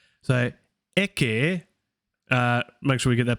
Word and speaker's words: ecce: So ecce, make sure we get that pronunciation.